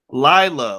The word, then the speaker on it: Lila: Did I pronounce Layla right, or It's Lila. Lila.